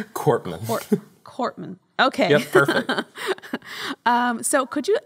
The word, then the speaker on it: Korpman: last name it's cortman uh the way sometimes sometimes they'll say it's like the p's not pronounced but it's not silent so find the middle ground cortman cortman okay so could